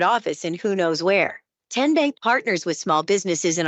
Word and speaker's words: TN Bank: How do you say the name? TN Bank. Nope. Tin bank. Uh-uh. So, what is it? Tenbank. 10 as in Tennessee.